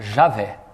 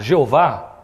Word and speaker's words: Javé: isso aqui, os hebraístas, só existe uma forma de entendermos a pronúncia de forma mais, vamos dizer, coerente com a língua hebraica, Javé. Não tem outra forma de ler.